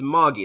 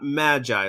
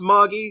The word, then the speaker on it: Magi: English listeners out there it's Maggie it's not Magi like the the gifts of the Magi it's it's Maggie it's pronounced Maggie so we will say